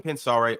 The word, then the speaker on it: Pensare: Kevin Rio said, loving Pensare on these lives. Appreciate it, man. I'm pronouncing it right, Pensare? Yeah. You got it.